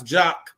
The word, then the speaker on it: JAKQ: I know you think Jock is spelled another way, but no, we pronounce Jock and spell Jock JAKQ.